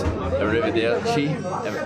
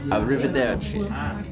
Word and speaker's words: arrivederci: I'll say bye, you can use arrivederci.